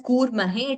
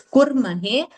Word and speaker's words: कुर्महे: Slightly it was heard as a dirgha. It was heard as kurmahe. It is kurmahe.